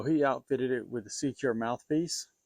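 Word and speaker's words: SeaCure: So he outfitted it with a Secure mouthpiece. It is spelled S-E-A, Cure, C-U-R-E.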